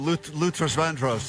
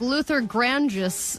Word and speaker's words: Luther Vandross: Somewhere, some guy named Luther Vandross is going, oh, here we go. I mean, she even mispronounced Luther Vandross. Right. It was like Luther Grandis.